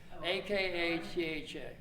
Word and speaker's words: Akatha: website acted said calm AKA tha it's pronounced a katha there's no th sound in Sanskrit yeah I had to